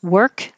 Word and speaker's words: work: not follow the rules work comes up a lot um as forgetting that it looks like an o but sounds like an er work um there's f v